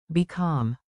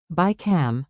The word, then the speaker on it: بكم: Remember the mnemonic, bi-kam. بكم. Ask calmly, get better deals. Pronunciation and gesture. Let's lock it in with rhythm and a simple movement. Beat it. Bi-kam, bi-kam.